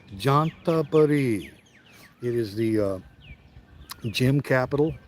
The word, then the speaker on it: Chanthaburi: So if you think of the name John, this is really the way you pronounce this province. It's not ch, it's j like a J. Jantaburi.